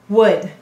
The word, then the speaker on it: would: doing in these words the silent l is saying say your broad sound let's sound it out would the next word is